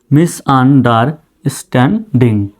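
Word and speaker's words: misunderstanding: হবে আন উচ্চারণ হবে এখানে ইউটা আ সাউন্ড দেবে যদিও বা ইউ ও সাউন্ড দেয় কিন্তু এখানে উন হবে না আনেই হবে ইউ এন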